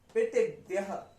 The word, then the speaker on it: पितृव्यः: और पितृव्यः, पितृव्यः पितृव्यः, त के नीचे री है ना, री, र तो नहीं है, री है, तो हम इसको क्या बोलेंगे, ई की, री की